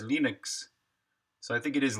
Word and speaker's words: Linux: name's Linus Torvalds, and I pronounce Linux as Linux."